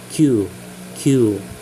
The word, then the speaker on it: 九: a prolong U uh please emphasize in your pronunciation it's not just Q as in letter q but q q please prolong the you um please uh make